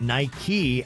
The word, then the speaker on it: Nike: the brand nike is pronounced nike after the greek goddess of victory in mythology and chairman philip knight